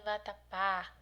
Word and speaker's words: vatapá: Terminou em vatapá, a sílaba mais forte é a última, oxítona, você vai observar a terminação.